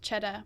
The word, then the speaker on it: Cheddar: We're on Cheddar Avenue, which is pronounced Cheddar, which means money.